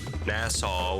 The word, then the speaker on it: Nassau: I think there was a comment correcting me saying it's pronounced Nassau with that long A sound, but unless I read the comment wrong, which very well could have been the case as well.